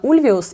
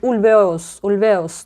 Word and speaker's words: Ульвеус: прям расстроилась, потому что я хотела уточнить, как правильно, Ульвиус или Ульвеус. И потом в другом интервью я посмотрела, Бьорн сам себя представляет, или его представляют из-за кадра и говорят: приветствуем Бенни Андерсон и Бьорн Ульвеус, то есть Ульвеус, все-таки на второй слог ударения, и значит